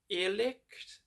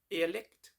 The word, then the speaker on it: Irrlicht: I'm not actually sure exactly how you pronounce this band's name, but I think it's Irrlicht. Not really sure. IRRLYCHT. Irrlicht. Yeah, that sounds about right.